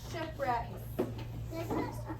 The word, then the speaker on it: shipwreck: a little bit thinner shipwreck what does it begin with right there's ship that's beginning of our compound word ship okay ship wrecks sounds like an R you're right it's a w WR it has a letter